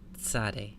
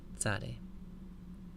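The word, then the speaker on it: צדי: alphabet is the Sade it's pronounced like English TS English we don't normally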